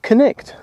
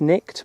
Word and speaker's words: Cnicht: is silent and it's nicked but I'm not sure I think it's connect Monique says it's connecting she's Welsh so this is unbelievable